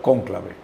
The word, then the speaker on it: cónclave: Conqulave y en español cónclave. Cónclave. Pero se escribe igual en español, en italiano, pero en español se le pone el acento en la O.